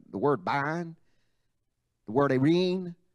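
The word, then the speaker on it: eirene: but it's spelled E-I-R-E-N-E, almost like the word serene, but without the S, irene, irene.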